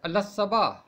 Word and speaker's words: الصباح: بہت سویرے، تڑکے ہی۔ اس کا درست تلفظ ہے الصبا، بالکل اسی طرح اعلان